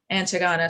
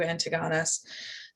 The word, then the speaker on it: Antigonus: his generals, which is Antigonus. Antigona, sorry, I pronounced that wrong. A lot of his territories were split up, and Ankara fell over to Antigonus and to his share of the territories.